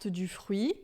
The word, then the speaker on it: fruit: todo ramo que por fruit, então retran, né? Todo ramo que não dá fruto, ele o corta. Fru é interessante porque a gente em francês vai falar du frui, tá?